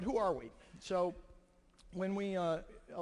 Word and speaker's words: Huawei: at the end is the pronunciation of huawei the thing on your lanyards is huawei not hawaii not some other term it's a company name it comes out of china fairly easy to pronounce but who are we so when we uh